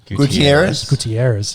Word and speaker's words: Gutierrez: Gutierrez.